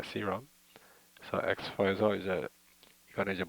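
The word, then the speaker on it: Serum: 한국에서는 보편적으로 세럼이라고 그러는데 실질적으로 영어 발음은 시럼입니다. 시럼.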